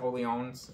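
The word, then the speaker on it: Orléans: or Orleans I mean I think you're supposed to announce it only owns but I'm going to pronounce it Orleans because we're Americans well I like the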